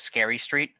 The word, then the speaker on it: S. Carey Street: Everyone calls Scary Street. Hi, It's South Carey Street. but Yeah. it's pronounced almost exactly like that. It's Carrie with an S in front of it.